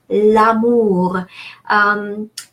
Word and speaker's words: l'amour: consonant is silent, and the R in amour makes an exception, so we are pronouncing it.